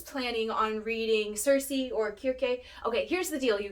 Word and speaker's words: Circe: on reading cersei or kirke okay here's the deal you guys i'm saying cersei i think the original pronunciation is kirke so i'm probably gonna say circe and kierke all the time don't judge me